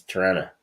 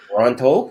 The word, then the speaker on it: Toronto: they have this problem pronunciating the letter T. So for them, it's Tirana. Really? Yep. Oh wow, that's So what can I say? must be a Canadian thing. It's a Tirana thing. Mhm. That's it, because you get one T even though there's two in the word. That's how they know if you don't belong there. Like because we pronounce it properly.